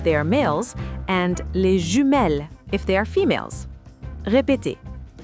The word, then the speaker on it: jumelles: To say twins in French, we say les jumeaux if they are males and les jumelles if they are females.